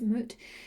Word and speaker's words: Mut: that you got was god is mutt it's time to mother yourself oh sorry i pronounce that incorrectly apologize moot it is time to